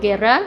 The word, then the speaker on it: Guerra: is G um pronounced um Gera if you can roll yours and I'm a print